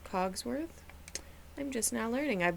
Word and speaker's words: Cogsworth: Did anyone else growing up really believe it was Clockworth instead of Cogsworth?